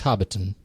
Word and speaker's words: Hobbiton: It's Hobbiton, really. You just say it like that.